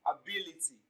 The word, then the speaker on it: ability: Option C, ability.